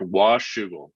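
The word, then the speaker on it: Washougal: how do you say that that is correct wash sugar for sure wait that's what well done from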